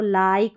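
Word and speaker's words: like: होगा, आई, ये है, इसको लिक नहीं पढ़ते, इसको लाइक पढ़ेंगे।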